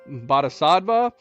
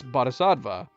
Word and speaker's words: Bodhisattva: one, and I even looked up, the correct, pronunciations. Although that was a bit confusing, because his name is what? Bodhisattva, and Bodhisattva ends up being a key character in Chapter 2.